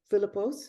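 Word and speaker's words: Philipos: the book when koshishar introduces literature to Philip philippos is that how you pronounce it yes uh he's and he says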